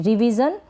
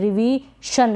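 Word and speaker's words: revision: लिखी जा रही है, रिवीजन, रिवीजन, जन पढ़ रहे हैं इसको भी SION को, ठीक है। रिवीशन, रिवीशन क्या होता है, कुछ नहीं होता, रिवीजन का मतलब तो होता है संशोधन या सुधार।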